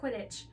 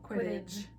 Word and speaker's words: Quidditch: I noticed a long time ago, and I've never said anything about it, but you pronounce the word Quidditch with a J. I do. Quidditch.